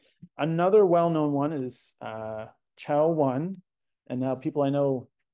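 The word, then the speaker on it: Chao1: debate in my lab I think it's cow one I think people sort of agree on that could be cow one I'm going to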